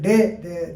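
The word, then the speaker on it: Dey: Paritosh Day, D-E-Y, they have pronounced it. Maybe Dev or Day.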